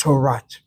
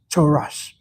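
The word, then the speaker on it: תורת: Ashkan Naz pronounce it as Toras. Toas Moshe. They don't say Moshe say to Moshe.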